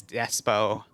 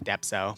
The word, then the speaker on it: Depso: Despacito because I always would say his name as Despo instead of Depso.